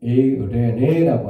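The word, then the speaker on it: εἰρήνη: 자, 원어 성경은 이 부분을 에이레네라고 합니다. 에이레네 휘민 카토스. 너희에게 평강이 있을지어다. 에이레네 휘민 카토스라고 발음하고 있습니다.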